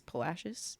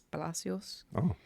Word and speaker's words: Palacios: I guess it's Palashis. If you say it correctly, it's Palacios.